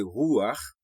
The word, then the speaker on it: Ruach: C'est même genre avec mot pour Bach. Sou ap tande moun ici kap di Johann Sebastian Bach. Yo essayé faire li parce que c'est comme ça ou prononcer non et non musicien que nous relè couramment Bach. OK? Donc si ou ka di Bach, ou ka di Ruach.